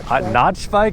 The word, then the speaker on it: NachBike: Notch bike. That's how I pronounce it. Nacho bike, dude.